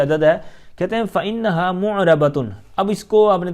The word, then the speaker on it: مُعْرَبَةٌ: بعض اوقات یہاں پر معربہ کر دیتے ہیں یا کوئی اور تلفظ کرتے ہیں. معرب لفظ آپ نے سنا نا، تو اسی سے آپ گولتا حرف لگا دیں فَإِنَّهَا مُعْرَبَةٌ.